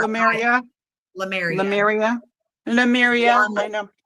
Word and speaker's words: Lemuria: This is Lemuria. Lemuria. I say Lou, but it's spelled Lem. Yeah, U-R-I. Lemuria.